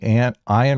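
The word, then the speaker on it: Ayn: Rhymes with mine.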